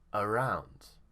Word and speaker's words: around: And here the stress is on round. Here you see round. We know the stress is here, so the first vowel might become around.